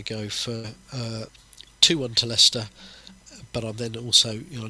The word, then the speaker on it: Leicester: I also can reveal to you that because AI can't cope with the spelling of Leicester, all right, we have to input L-E-S-T-E-R. Okay. Because the AI robots that we use as newsreaders, they get to Leicester if it's spelt correctly, and you want to hear it. It sounds Welsh. It sounds like a Welsh railway station.